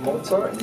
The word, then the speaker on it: Mozart: what i'm saying that's how you say it mozart so i don't think it's for me